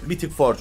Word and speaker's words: Mythic Forge: mythic Forge Evet evet mythic Forge olarak okunuyormuş yeniz yenilendi bildiğin üzere